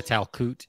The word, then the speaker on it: Talkoot: do whatever as a community it's called the talcute very cool so is that how you say it is that how you say it a towel coot is that how you say your business name